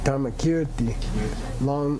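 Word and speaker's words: Dharmakīrti: Kirti, Dharma Kirti, long I.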